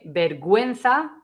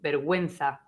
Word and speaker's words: vergüenza: And that means that you have to pronounce the U. So that would be gue and gui. So only with the E and with the I. Gue, vergüenza, shame, vergüenza.